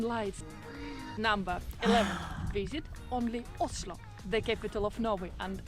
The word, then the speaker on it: Oslo: number 11 visit only oslo the capital of novi and actually in norwegian the right way to pronounce the name of the capital is ushlo oslo is a great